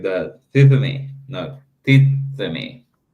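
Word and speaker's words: τίθημι: I give a point for the Greeks to do that instead of said thithemi.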